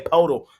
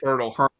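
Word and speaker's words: Poeltl: I say Podol. I know that's wrong. I know Purtle. Yeah. I call him. I know there's no trying to R in there, think but of it's Podol. Purtle.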